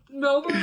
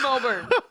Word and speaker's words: Melbourne: Melbourne, Australia. I say Melbourne.